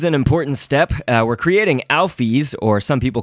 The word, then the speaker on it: Alphys: of people's interpretation, although Toby, the creator, has put out a pronunciation guide for a lot of these, and so Alphys is the way that I guess this is pronounced, according to Toby.